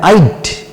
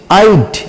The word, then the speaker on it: I'd: আই would এটাকে উচ্চারণ করতে হয় আইড, আইড, আইড।